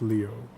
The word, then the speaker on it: Leo: It's written with the kanji for lion, to be sure, but it's pronounced Leo.